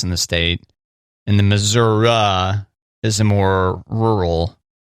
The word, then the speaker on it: Missouri: Well, yeah, the classic one is you go to the T-Mobile Center in Kansas City, Missouri.